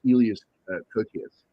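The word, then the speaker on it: Elias Koteas: Also, you had it's either Elias or Elias because he is Greek, so I think it's pronounced Elias Kokias, who was a great fucking actor, man.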